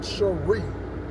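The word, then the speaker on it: Shri: that way it's a middle name and they pronounce it Sheree their first name is molinda last name Simmons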